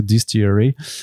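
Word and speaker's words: DSTLRY: Donc en vrai c'est fait que de lettres, enfin c'est D-S-T-L-R-Y, Distillery, mais en vrai ça se prononce donc Distillery, et c'est intéressant.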